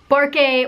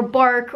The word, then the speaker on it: Barque: today I'm going to be talking a little bit about the wind pirate captain, Barque, or Bark, or however you want to pronounce his name.